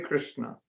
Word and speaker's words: Krishna: Everybody say, Hare Krishna.